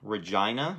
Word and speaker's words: Regina: Warren Friedrich, and he is actually from Canada, from a city called Regina. Am I pronouncing that correctly, Warren?